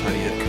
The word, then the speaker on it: Tudyk: Yeah, it's like Tudyk. It's Tudyk.